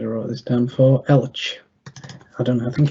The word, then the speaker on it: Elche: Elche.